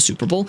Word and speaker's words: Superb owl: I learned that the reason why Rave watches That's the reason why Rave watches the Super Bowl. Uh, it's pronounced Superb owl. There's a space.